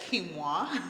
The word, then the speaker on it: quinoa: of kimoa it's it it looks like it's spelled Canoa q i n o a but it's said kimoa okay so good for you